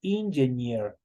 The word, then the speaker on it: engineer: Aquí nosotros tenemos una doble E. ¿Quién se acuerda solo para el momento de pronunciar cómo se le pronuncia esa doble E? ¿Quién se acuerda? Solo para la pronunciación, ¿cómo se pronuncia esa doble E? Como la I, como Perfecto, compañeros, como la I. Por eso yo digo engineer. Engineer es como que ahí estuviera una I.